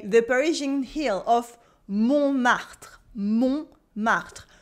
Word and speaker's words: Montmartre: Montmartre. The T is silent in the middle.